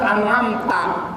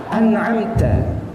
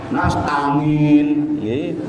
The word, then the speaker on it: an'amta: An'am, iya, mesti rata-rata an'amta. Nah, harusnya an'amta. Nasta'in, Bapak Ibu mesti rata-rata bacanya nastangin, mesti nastangin. Karena ada sifat huruf yang belum diberikan di situ. Karena huruf ta itu sifatnya hamas.